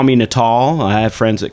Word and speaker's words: Natal: and actually in Latin means Christmas and it's pronounced natal a but what happened is the little kid